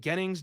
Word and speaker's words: Gennings: Is it Gennings Dunker? Is that pronounced correctly, sir? I think it's Jennings, but Gennings also doesn't sound too wrong either.